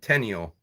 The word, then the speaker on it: Tenniel: This is a Alice in Wonderland book by Lewis Carroll, illustrations by John Tenniel. That's how you say his name.